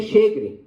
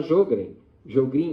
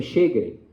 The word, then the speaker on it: Sjögren: A pronúncia é Sjögren. Na minha época a gente falava Jogrin, mas não tem nada disso, é Sjögren, ok?